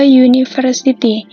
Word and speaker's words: university: Lalu contoh yang kedua, a university. Memang secara tertulis untuk huruf pertamanya adalah U, tapi secara kita membacanya adalah menjadi W.